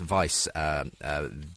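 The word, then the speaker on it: Wiebe: interesting chapter is by Philip I think it's pronounced vice WI ebe and he is a professor but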